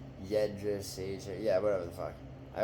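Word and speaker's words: Jędrzejczyk: Joanna Andrzejczyk? Jedrzejczyk. Yeah, whatever the fuck. I always forget how to pronounce it.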